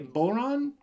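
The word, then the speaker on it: bodhrán: Irish instrument called a bowline can you say Bowron good rhymes with the word no coincidence just it rhymes so boron is an Irish drum the coolest thing about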